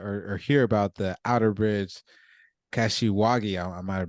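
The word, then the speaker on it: Outerbridge–Kashiwagi: read about the or or hear about the Outerbridge kashiwagi I might have mispronounce that procedure so when do we you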